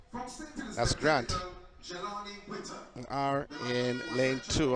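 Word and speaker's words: Ghrant: is in two but a grant is spelled g-h-r-a-n-t I've never seen Grant spelled like that before so not g-r-a-n-t like oh my name is felt but g-h-r-a-n-t that's Grant we are in lane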